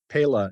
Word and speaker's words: Pela: he's the chairman of Pella which is uh pronounced a number of different ways but pela is the Spanish for peel which of course is